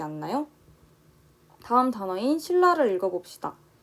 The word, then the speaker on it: 신라: 다음 단어인 신라를 읽어봅시다. 신라 역시 신에 니은이 붙은 신이 아니라 신라 하면서 니은이 리을로 바뀌면서 소리가 나고 있어요.